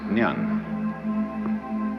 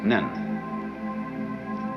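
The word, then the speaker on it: 念: They have a very interesting sign this it's pronounced nyan Japanese nen and the top part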